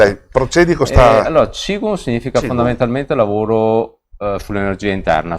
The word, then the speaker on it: Qigong: O Qigong è giusto o ho sbagliato a pronunciarla? Allora, Qigong.